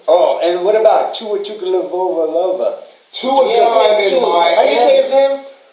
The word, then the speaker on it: Tagovailoa: Oh, and what about Tua Tagovailoa?